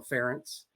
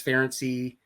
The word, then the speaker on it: Ference: of ways so excellent ferency oh no feny that's hard on the yeah I mean it's I just say it rhymes with parents and then people get it so and we've